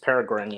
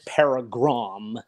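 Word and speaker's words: Peregrine: I think yeah um Miss paragan yeah I think that's the uh that's that's how it's because well I mean how her name is spelled is you know p e r e g r i n e so it's not like Miss paragram no nothing like that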